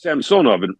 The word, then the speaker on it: Samsonov: so, however you say your name, like so, Ilya Samsonov in Toronto. Mm-hmm. It's Samsonov in Russian. In Russian, the middle syllable is accented.